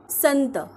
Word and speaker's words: संत: मग व्हिडिओला सुरुवात करूया संत संत या शब्दाची फोड केली आहे स अधिक अनुस्वार सन आणि शेवटी पाय मोडलेला त कारण शेवटी अ चा उच्चार होत नाही म्हणून आपण त च्या